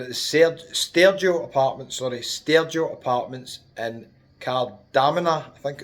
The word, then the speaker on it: Kardamena: We're at the Stergia Apartments in Kardamena, I think it's called. That's how it's pronounced.